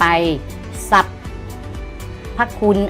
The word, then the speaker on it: สรรพคุณ: ก็ เปลี่ยน เป็น ดอน อีก นะ ต่อ ไป สับ พะคุน อ่าน ว่า สรรพคุณ สัตว์ สอเสือ พยัญชนะ รอ ตัว